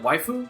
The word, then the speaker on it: waifu: Is it waifu? Wait, Okay, good. I can explain this as well. Oh, We initially mispronounced it, and we find it way funnier if we mispronounce it.